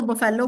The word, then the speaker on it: buffalo: Okay Kavya, आपने बहुत गलत स्पेलिंग लिख ली है बफलो की तो. हम्म. ये होती है स्पेलिंग बफलो की. BUFFALO. बफलो. ठीक है, आप लोग इसको बफेलो बोलते हो बट the correct pronunciation is बफलो.